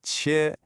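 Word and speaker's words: 切: First up, we have chi, and that's pronounced chi.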